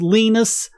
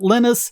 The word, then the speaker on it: Linus: And what he said was, his name, Linus, gets pronounced different ways anywhere. Back home, where he's from, it's pronounced Linus. Most people in Europe pronounce it Linus. He goes to America and he's called Linus. And he says, that's fine. You can call me by any of those things.